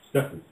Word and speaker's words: Stephen: Well, my full name's Stephen is spelled with a PH. Stephen. Stephen, yeah. Stefano. They say, Mum, why is my name Step Hen? Step Hen, what's a Step Hen?